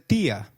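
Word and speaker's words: día: Did you notice that dia has an i marked with an accent? In Spanish, if a word is marked with an accent, then that syllable receives the stress. So try saying dia again.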